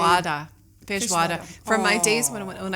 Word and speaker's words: feijoada: where I can't know how to pronounce the name. Feijoada.